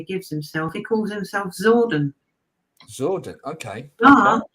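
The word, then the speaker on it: Psordon: himself he calls himself zordon sort of okay he doesn't spell it like it sounds it's it it's kind of spelled with silent p so it's p-s-o-r-d-o-n zordan all right okay i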